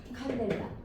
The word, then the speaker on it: 칸델라: CD라고 쓰고 뭐라고 읽어요? 칸델라라고 읽습니다. 뭐라고 읽어요? 칸델라.